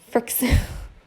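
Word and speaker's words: Frixion: wet so some pens so I use the Frick Seon I can never say it right but it's the first it's Kirk C on friction friction fricassee on heat erasable pen and they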